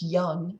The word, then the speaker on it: Jung: The first two names, Freud and Jung, sometimes pronounced Young in the United States, are likely the most familiar to you.